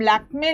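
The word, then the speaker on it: Lakmé: दूं, एक इंफॉर्मेशन कि अगर ई के ऊपर कभी भी ये साइन लगा हो जिसे हम स्व कहते हैं तो फिर इसका प्रोनाउंसिएशन ए क्लिशे। अब देखिए जैसे हम वाइड लिखते हैं, वाइड यहाँ पर ये साइन नहीं है तो इसको हम वाइडे नहीं पढ़ते, लेकिन अगर हम लैक्मे लिखते हैं, लैक्मे और ये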